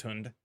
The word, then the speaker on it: hund: is the is the is it pronounced hund is is the major one I'm because I don't speech speak Dutch unfortunately I need to learn more languages is I think the realization that I've come to from interacting with so many FES okay it is pronounced hund oh beer drink in the dining car yeah hund is the German word for hounder dog okay I I figured as